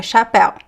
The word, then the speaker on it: chapéu: The ch is pronounced as a sh just like the sh. Chave chuva chapéu Remember that is never ch the ch in Portuguese is never ch is always sh.